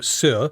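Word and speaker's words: Saor: Sir is spelled S-A-O-R, right, Claire?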